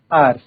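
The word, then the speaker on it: hour: एच ओ यू आर लिखा है बट इसमें एच साइलेंट है, तो ये क्या पढ़ेंगे, इसको आर पढ़ा जाता है, ठीक है।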